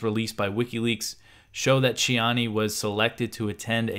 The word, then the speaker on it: Tiani: general ABDO Rahman shiani also spells his name Tiani but I believe it's pronounced chiani something like that so he's proclaimed himself